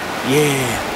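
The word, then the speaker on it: Yair: yeah this is the yeah Bridge spelled y a i r but I'm assuming the pronunciation is exactly the same as everybody's favorite London yes word isn't that right Andrew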